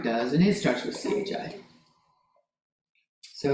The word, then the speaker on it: chi: It's pronounced chi like the word bi, but with a K.